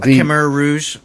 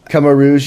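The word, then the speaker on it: Khmer Rouge: uh and it's about Kamar Rouge okay is that how you say it Kar Rouge Kar Rouge yeah the the ethnic cleansing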